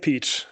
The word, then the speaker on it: Pietsch: You can just say it peach. So the same way as you would spell the fruit as well here in English, right?